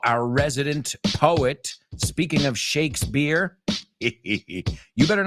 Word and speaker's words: Shakespeare: We don't say peer, aunque es una P. Shakespeare.